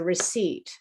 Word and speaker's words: receipt: pronounced incorrectly for example receipt so the bill that you get when you buy something is a receipt it's not a receipt okay the p is silent in uh there's a